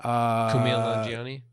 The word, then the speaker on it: Kumail Nanjiani: People who say there's too many characters might be right, but Kumar, how do you say his name? Kumail Nanjiani. Camille, right.